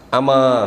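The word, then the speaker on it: أَمَا: Q beliau memberikan jawaban ama ketahuilah mimnya tanpa syaddah.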